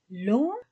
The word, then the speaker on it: long: Long, long, long. Longue, je ne prononce pas le G.